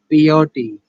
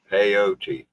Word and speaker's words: peyote: What's a POT? Rose Wild. POT. Am I saying that right? POT? Peyote. It's usually pronounced AOT.